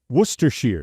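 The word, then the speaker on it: Worcestershire: family members that were born in Worcester it's Worcester Shear oh it's w m my favorite pronunciation hey what's that my favorite pronunciation that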